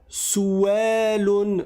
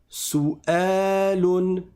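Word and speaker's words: سؤال: Je ne dis pas souun souun sous prétexte qu'il y a un wau parce qu'à partir du moment où je vois la hamza ici, je sais que cette lettre là en entier c'est la lettre hamza et le W en fait ça n'est que le support de la hamza. Donc je dis souun et si je m'arrête dessus je dis souel.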